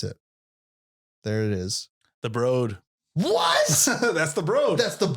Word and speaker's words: Broad: The Broad. That blew my mind. And I was pissed when I found out I was saying it wrong my whole life. The Broad. Let's go to the Broad.